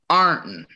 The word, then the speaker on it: Ironton: Well, I grew up in Ironton, and just to prove that I'm a real Irontonian, I know that it's correctly pronounced Arnton.